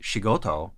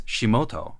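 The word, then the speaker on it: 仕事: He doesn't say shigoto, work. He says shimoto.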